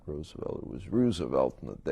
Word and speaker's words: Roosevelt: high school politics at Roosevelt High School on the northwest side of chicago i pronounce it roosevelt rather than roosevelt because it was named after Teddy and I saw one